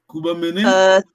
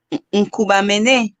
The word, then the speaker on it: Nkubamene: Donc, la chose la plus importante, c'est la nasale. Hein. Dès qu'on a la nasale, bon, la première syllabe, c'est la nasale, la deuxième aussi, on va essayer. La troisième, bon, c'est pas très grave. On ne peut pas être parfait ici, c'est très difficile.